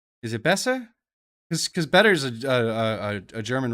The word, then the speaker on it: besser: Besser? Is it besser? Because better is a German rooted word. It should be besser. I'm probably so mispronouncing that, but basically it's B-E-S-S-E-R.